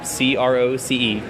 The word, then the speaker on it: Croce: en si si er CRO see my last name is just like Jim Croce though I don't know